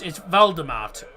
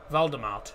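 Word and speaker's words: Waldemart: No, it's Valdemart. W-A-L-D-E-M-A-R-T. Valdemart. It's so the W is pronounced V in Germany. So that's why it sounds like Voldemort, but it's not. It's Valdemart.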